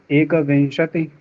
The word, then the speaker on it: एकविंशतिः: एकविंशति, द्वाविंशति, त्रयोविंशति, चतुर्विंशति, पंचविंशति। विंशति के बाद विसर्ग का उच्चारण बहुत कम हो रहा है।